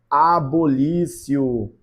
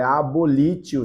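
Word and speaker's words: abolitio: gente chama isso ó, de abolício. É abolítio. Se escreve lítio, né?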